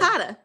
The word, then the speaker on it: Sulcata: How do you pronounce that? Sulcata.